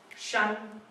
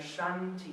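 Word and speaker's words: 山: the people in the shanty town. Shan. So here we have the link to the pronunciation again. Shan, the shanty town.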